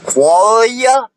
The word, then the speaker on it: qualia: Qualia. Yes, that's how you pronounce it.